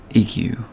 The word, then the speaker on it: Igu: I think it's pronounced Igu. I-G-U.